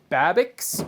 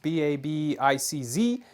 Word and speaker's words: Babicz: This is a Babicz bridge, I believe is how it's pronounced, B-A-B-I-C-Z, Babicz, and it's not a standard Fender product.